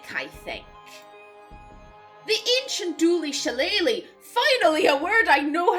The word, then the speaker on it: shillelagh: The ancient Dooley Shillelagh. Finally a word I know how to pronounce, thanks to Dungeons and Dragons. The Shillelagh?